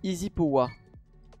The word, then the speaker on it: EZpowa: Est-ce que Wingo pour Espoa, est-ce que ça, on prononce pas Easy Poa? J'avoue que je ne sais même pas. Je vais lui demander. Mais pourquoi j'ai pas l'HUD? Au secours? HUD? Allô? Oui, ça se dit Easy Poa.